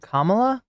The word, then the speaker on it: Kamala: Harris still at 226 the 30 elector votes pronounce her name right Kamala are you having trouble with the pronunciation csom